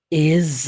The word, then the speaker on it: is: Por que eu falei que o termo is, do verbo to be, que talvez você pronunciou com som de S a vida inteira, tem som de Z, tá? Is.